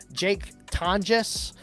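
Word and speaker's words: Jake Tonges: Jake Tonjes, that's how you say it now.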